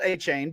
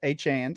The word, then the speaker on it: Achane: ringback noted that he his name should be pronounced Devon Han that takes some uh some getting used to uh not not a chain but a chain so we'll uh we'll